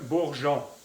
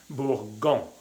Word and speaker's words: bourgeon: Un bourgeon. Y hay que poner la E aquí, enfrente del sonido ON, porque si no haría bourgon. Para hacer el sonido jon, hay que poner la E. Bourgeon.